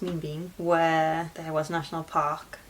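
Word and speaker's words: Ninh Bình: So we head to Ninh Binh, I think it's pronounced Minh Binh, where there was National Park and more pagodas.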